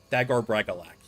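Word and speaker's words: Dagor Bragollach: Dagor Bragalak, yes. That's how you pronounce it.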